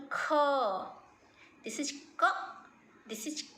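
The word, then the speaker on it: ख: So how to pronounce I will tell you again. So ka, then kha. So this is the low sound. Ka is a low sound. Kha is a deep sound. When you pronounce ka and put your hand in front of your mouth, the air will not come. When you say ka, no air. When you say kha, air will come.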